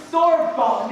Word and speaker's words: Sorbonne: You know, Marie studied at Sorbonne. Is that what's pronounced, Marie?